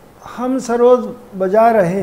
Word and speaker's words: सरोद: सरोद ये Persian word है, जैसे सितार भी पर्शियन वर्ड है। सहतार यानी तीन तार का बजा, और ये सरूद इसका उच्चारण है, सरूद डबल ओ के साथ, जिसका मतलब है नगमा, तरन्नुम, मौसिकी।